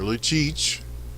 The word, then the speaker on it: Lucic: With this puck cleared around, it will be Lucic, or Lucic, for the pedantic.